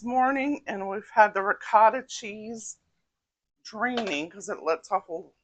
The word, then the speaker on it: ricotta: I'm trying to say it like the Italians, ricotta.